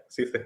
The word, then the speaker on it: CCalle: and Central America at CCalle, I think that's pronounced. Is it? CCalle, yeah, indeed. But that's right. Yeah, CCalle.